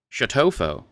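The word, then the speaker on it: Chateaufaux: It is spelled Chateau-Faux. Chateaufour, just before noon, and stopped at a large inn.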